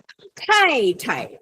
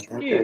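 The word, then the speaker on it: 太太: T is TH. Okay, TH. Okay. Thank you, Arlene. It's called aspirated.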